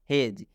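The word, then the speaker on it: hedge: तो इसको हम लोग पढ़ेंगे हेज। इसलिए डी के बाद जी है। यूं कहूँ तो जी से पहले डी आता है तो डी साइलेंट हो जाता है, डी का उच्चारण नहीं करना है।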